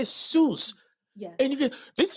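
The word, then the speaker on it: Jesús: Don't let them say Jesus. It's not a Jesus. There's no Z in no Spanish. It's Z. Jesus.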